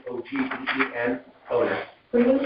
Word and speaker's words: Ogden: Ogden, O-G-D-E-N, owner. Can you spell that again for me? Sure, first name is, second name is O-G-D-E-N, Ogden, like Ogden, Utah. Right?